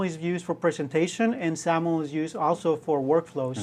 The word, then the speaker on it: XAML: language and it's pronounced saml kind of sounds like you're pronouncing with a z um so ZL um